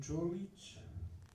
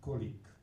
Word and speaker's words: Čolić: plus qu'une bataille, que mon nom de famille Čolić, on ne prononce pas à la française colique.